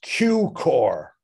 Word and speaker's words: Cukor: this is a photograph george always would correct people who did not pronounce his name correctly it's he would always say it's q core and a lot of people used to get him mixed up with adolf zucker and i remember in